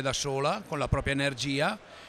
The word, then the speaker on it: EnerG: Si chiama EnerG con la G finale pronunciata con l'accento. Quindi diciamo. Non c'è la Y, ma no. La G si pronuncia come la lettera dell'alfabeto italiano.